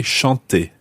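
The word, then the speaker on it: chanté: like to sing Shanti well to sing is spelled c-h-a-n-t-e-r and sung is spelled c-h-a-n-t-e acute okay Shante Ashanti no uh second one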